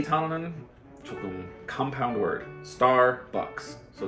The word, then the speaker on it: Starbucks: Starbucks. So 첫 번째 우리 star 하자. Star. R 소리 필요해요.